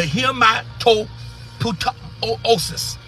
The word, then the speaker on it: hematopoiesis: Our blood cells are manufactured in the bones, which is called the hematopoiesis. Let me spell it, y'all.